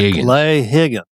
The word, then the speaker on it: Higgins: Got to pronounce it correct. Higgins.